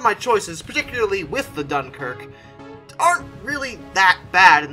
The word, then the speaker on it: Dunkirk: annoyingly like an idiot mispronouncing dunkirk as dunkirky because i'd never seen it spelled the french way before my apologies for